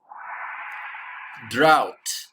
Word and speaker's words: drought: When it doesn't rain for a long time, we call this drought. Drought. D is silent.